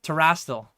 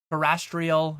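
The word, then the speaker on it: Terastal: So, oh yeah, Terrastal. So I've said Terrastal Festival before, and I've had people like, no, that's wrong. That's not enough letters. That's not enough syllables. Terrestrial or something.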